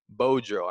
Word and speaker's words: Beaudreau: On today's episode, we are joined by Matt Beaudreau. I'm really hoping I'm pronouncing that correctly.